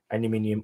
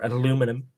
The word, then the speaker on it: aluminium: Sort of the zinc type buttons, but they're really just like aluminium or aluminum, which is actually the correct pronunciation.